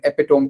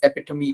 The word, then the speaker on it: Epitome: And I run the Epitome Pen Company, or like you pronounce it in the States, Epitome Pen Company.